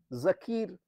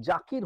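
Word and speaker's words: Zakir: ঠিক আছে আচ্ছা তাহলে জাকির হোসেনের কথায় বলছি জাকির হোসেন নয় জাকির জাকির হোসেন জেড আমাদের আমেরিকাতে এখানে বলে জি কিন্তু আমাদের দেশে বলে জেড আমি জেডই বলছি জেড এ কে আই আর জাকির Hossain জাকির Hossain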